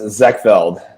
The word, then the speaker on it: Zekveld: Uh it's uh pronounced Zackfeld. Zachfeld.